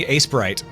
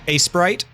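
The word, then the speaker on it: Aseprite: easy oh I'm using Ace Sprite at least I think that's how it's pronounced a e p r i t e ice Ace Sprite or Ace prite I'm going to call it Ace Sprite classic slime ooh I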